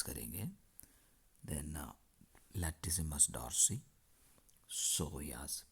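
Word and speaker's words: psoas: then latus मस Darcy सोयास piece silent है व प सोया क्वाड्रास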